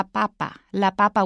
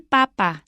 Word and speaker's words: papa: If you change it to la and you change the stress, it's la papa, which is a potato. But if you have el papa, then it becomes the Pope.